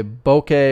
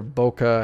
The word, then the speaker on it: bokeh: think it was f 1.4 and so my bouquet or bokeh however you want to pronounce it is going to be quite a